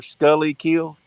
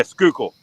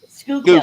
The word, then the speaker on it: Schuylkill: I can promise you that, and it's the one that says, "How do you say your river Scully Kill?" Yeah, Skookle. Schuylkill.